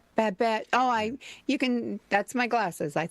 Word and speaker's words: Babette: in the Family, and Babel on Gilmore Girls. Is that how you say it? Babette. Babette.